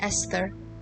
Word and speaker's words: Esther: thought you'd left me the h is silent and esther oh esther yeah how